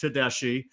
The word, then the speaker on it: Tedeschi: guest coming on shortly 2025 recruit uh Docker Tadashi um I was going to pronounce his name wrong but I managed to touch bases with him beforehand and we know it's pronounced tesi anyway uh we'll be bringing him on shortly